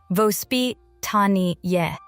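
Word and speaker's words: воспитание: A parenting philosophy called vospitany, pronounced vospit tani that teaches children to see nature not as a special event but as normal life.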